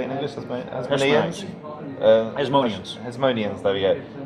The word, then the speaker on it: Hasmoneans: Hasmoneans, there we go. Hasmonians.